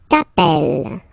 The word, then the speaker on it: appelles: Second form, tu t'appelles, okay? Remember, final S not pronounced, tu t'appelle, okay?